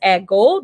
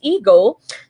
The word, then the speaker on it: ego: again this is ego Hindi in the Hindi no pronounces ago this is ego you have letter B